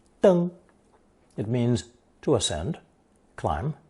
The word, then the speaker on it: 登: It's pronounced first tone, deng.